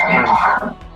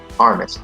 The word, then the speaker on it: Armas: I think it's just Armas. Armas, okay.